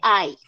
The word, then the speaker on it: I: name rincón a rincón y yo muy bien mónica tienes tu punto como dice mónica si esos son los los pronombres ahí no se dice y no y es del espanyol se dice ay bien you i see